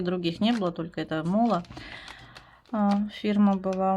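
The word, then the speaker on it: MÅLA: Мало или мала, не знаю уж как произносится. Название товара Мола. Вот, правильно, Мола.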